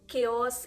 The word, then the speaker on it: chaos: In chaos, it is k.